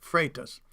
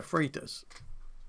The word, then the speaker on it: Freitas: by d d common names where i live pronounced freitas oh it's freitas instead of freitas i heard